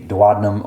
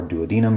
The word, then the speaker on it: duodenum: and some other enzymes into the duodenum or duodenum. You can pronounce it either way.